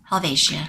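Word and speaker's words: Helvetia: Alvesia. Alvesia. My Swiss friends last night when I was in Basil told me it is Helvatia.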